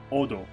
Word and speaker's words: od: Large source, mana, floating around the world, and the small source, odo, It's spelled Ode, but it's pronounced Odo.